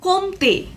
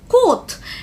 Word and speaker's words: Auguste Comte: Most of the people consider pronouncing him Comte because the word spells C-O-M-T-E, but it's not Comte. He used to be known as Auguste Koth, who actually coined the term sociology.